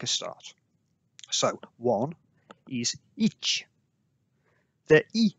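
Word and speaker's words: いち: like an exclamation mark, placing emphasis on the ch rather than the I that you might pronounce in English if you had an itchy hand.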